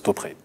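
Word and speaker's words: Topre: Et Top, c'est une marque japonaise qui fait des claviers mécaniques extrêmement haut de gamme. Et alors, je vais t'embêter encore, mais ça se prononce Topré.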